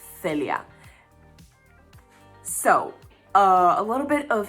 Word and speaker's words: Celia: And I know in English it sounds like I have a lisp because of the way I pronounce the C, but that's just the way you pronounce soft C's in Spanish.